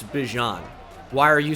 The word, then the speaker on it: Bijan: There is Bijan Robinson, which I watched an interview recently, and obviously I'm very familiar with him as a huge Texas fan.